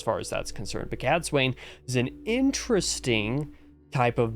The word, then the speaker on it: Cadsuane: I believe that's how her name is pronounced, Cadsuane.